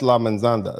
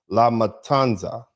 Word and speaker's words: La Matanza: That's La Mensanda. That I mean I butchered the name. La Matanza, which means the massacre.